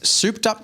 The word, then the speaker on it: souped up: Now, souped up, by the way, Yeah. it's spelt like soup, S-O-U-P. Is that not how it's spelled? I feel like it would be S-U-P, like soup. It's not soup. It's not like, super.